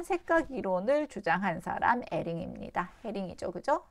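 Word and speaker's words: Hering: 그 다음에 에링이죠. 에링, 프랑스 사람이죠. H인데 요거 묵음, 에링의 반대색 이론, 요거 공부했습니다.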